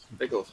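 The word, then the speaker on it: Weghorst: Veghorst. Yeah. Because we were told on Sky Sports how to pronounce it, and I wrote it down plenty, but I have not got that notebook to hand.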